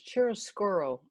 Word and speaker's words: chiaroscuro: The type of painting that she was doing is called, I'm going to pronounce this, chiaroscuro, I think it's pronounced.